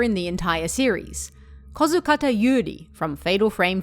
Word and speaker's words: Yuri: This combination of characters isn't terribly uncommon, but they're usually read Yuri, with a short U sound, whereas our Yuri is pronounced with a longer U sound, like Yuri.